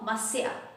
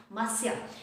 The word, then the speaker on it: Monsieur: Alright, so Monsieur, this is how we pronounce it, Monsieur.